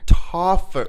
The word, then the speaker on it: Tauferner: Could you just, what is it? Tauferner. Like toffee. Yeah. But it's West Texas, so Tauferner.